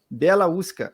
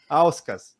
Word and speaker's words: Bieliauskas: Mas é tão simples que você fala assim, não, pronuncia exatamente do mesmo jeito que escreve. Então vamos lá, Belauskas.